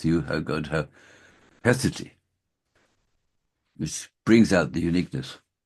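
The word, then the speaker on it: haecceity: who he called it, I probably don't pronounce it correctly, even I can see it's spelled Haeccity or something like that. And it's pronounced roughly Hesity, Hesity.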